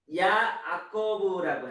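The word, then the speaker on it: יעקב: 아카부에서 유래된 말로 뒤에 있다, 뒤에서부터 오다 이런 뜻이고, 야곱을 야아코브라고 해요. 야아코브. 예, 히브리어로 야아코브 그러는데 이 말이 아카브에서 온 말이에요.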